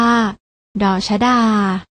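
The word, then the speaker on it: ฎ ชฎา: แก่ พยัญชนะ ตัว แรก อ่าน ออก เสียง ว่า ด ชดา ส่วน พยัญชนะ ตัว ที่ 2 อ่าน ว่า ว่า ด เด็ก ลอง อ่าน ออก เสียง ตาม นะ คะ ด ชดา ด เด็ก พยัญชนะ ทั้ง 2 ตัว นี้ อ่าน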